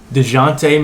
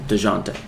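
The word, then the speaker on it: Dejounte: this guy's first name let me read it deshante murray de jonte there we go a little psych reference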